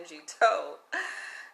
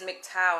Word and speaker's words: MGTOW: of this name because i was calling it mg toad and they corrected me and says it is mgtow and i asked for